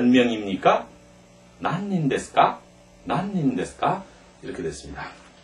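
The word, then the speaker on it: 何人: 난닌 데스까?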